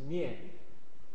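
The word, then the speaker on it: 面: Pronunciation is mian, face or facial.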